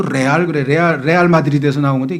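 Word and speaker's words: Real: 아주 이 고급 그런 마드리드 팀이란 뜻이고, 레알이를 영어로는 리얼이라고 발음하고 스페인에서는 레알이라고 발음해요.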